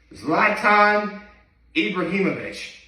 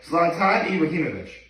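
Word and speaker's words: Zlatan Ibrahimović: Zlatan Ibrahimovic. That's how you pronounce his name.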